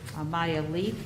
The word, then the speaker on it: Maya Leaf: We have a new Assistant Recreation Director, Maya Leaf, I believe is the pronunciation of her name. It is correct.